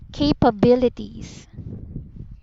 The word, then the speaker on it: capabilities: So the first syllable, which is CA, should be a long A. So it should be pronounced as capabilities.